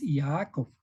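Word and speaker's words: Ya'akov: Jacob pero en realidad en el pronunciamiento de El hebreo es y aaco y a Jacob en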